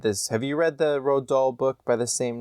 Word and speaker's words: Roald Dahl: No, but I thought his name was Ronald for a really long time. No, I think it's Roald Dahl, I think is how you say it.